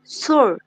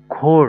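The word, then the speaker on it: Chor: brooder হচ্ছে brother তারপরে সে হচ্ছে সুর এটা এটার উচ্চারণটা আসলে খোর হয় হ্যাঁ খোর খোর খোর সরি খোর তারপরে এটা ইংলিশটা হবে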